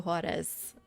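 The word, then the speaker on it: Juárez: Paco Juarez. Pacua. Is more like an H in Spanish.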